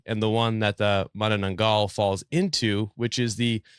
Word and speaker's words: Manananggal: sounds like a drink I've heard many different ways of pronouncing it there's men and Engle men and andal and the manangel I think monango monang monango is the one that I actually looked up the pronunciation of it and an actual Filipino person was on the YouTube video telling me how so I'm gonna go with man ngal man ngal okay